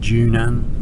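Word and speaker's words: Zhunan: So this place is called Junan. This is where you transfer to the if you want to take the coastal trainer. It's spelled with a zed, but pronounced J.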